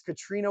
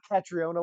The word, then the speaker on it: Catriona: It's Katrina Ward, not Catriona Ward.